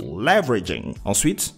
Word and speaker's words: leveraging: and Foster Innovation pronation leveraging the stress is on the first syllable leveraging technology this is also